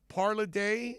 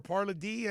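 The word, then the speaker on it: Palardy: But Michael Parladé, or Parladé, I think is the way it's pronounced.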